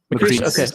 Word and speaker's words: Macrice: So is his name Macrice or Macris? We've been calling him Macris, but is it Macrice? Macrice. Okay. I'll say it right for when he's on.